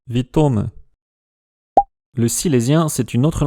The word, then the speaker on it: witómë: Et donc ce mot qui veut dire bienvenue doit se prononcer victome.